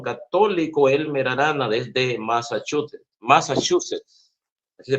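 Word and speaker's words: Massachusetts: el apologista Cristiano católico Elmer Arana desde masach Massachusets así se pronuncia Massachuset estado de los Estados Unidos así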